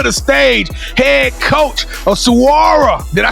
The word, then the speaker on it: Saguaro: so welcome to the stage head coach of Saguaro did I say it right coach yes sir